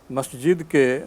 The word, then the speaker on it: মসজিদ: শুরুতে একটি ইমেইল পাঠিয়েছেন সৈয়দ আজহারুল আমিন আফতাব নগর ঢাকা থেকে লিখেছেন আমাদের দেশের বেশিরভাগ মানুষ মসজিদকে মসজিদ বলেন। মেহেরবানী করে সঠিক উচ্চারণটা জানাবেন।